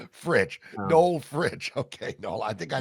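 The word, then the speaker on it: Fritsch: with something else but we'll say that for for the purpose of TV here that it rhymes with Rich or itch FR is how it's pronounced FR nol fridge okay nol I think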